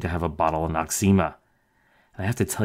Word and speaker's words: Noxzema: The origin of the name is not entirely obvious until you try breaking it into smaller bits. No, eczema, no eczema, or as we normally pronounce it, Noxzema.